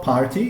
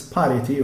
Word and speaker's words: parity: is the parity method this is not party it's parity okay because usually uh